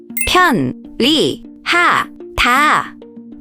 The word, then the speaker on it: 편리하다: This happens because of a rule called lateralization. When 니은 and 리을 come next to each other, the 니은 often changes to an 리을 sound.